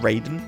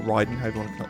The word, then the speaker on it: Raiden: been the one CP Raiden or Ryden I pronounce it which deals 1000 damage